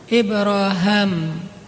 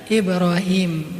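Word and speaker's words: إبراهيم: dulu daripada Rasulullah adalah Ibraham. Kalau dalam salah satu qiraat itu bacanya Ibra Ibraham. Makanya orang Inggris nyebutnya Abraham atau bisa juga dibaca Ibrahim. Nabi Ibrahimlah yang mengucapkan sebelumnya.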